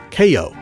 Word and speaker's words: Cayo: I've been saying Cayo because that's the Spanish pronunciation, but the English pronounced it Cayo, which is a lot